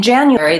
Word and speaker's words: January: myself enough room in January the U has the yeah with so Jan you air e with first syllable stress January I do have